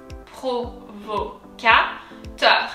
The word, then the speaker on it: Provocateur: So pro, the R comes from deep down. Pro, vo, that's kind of easy. Provocateur.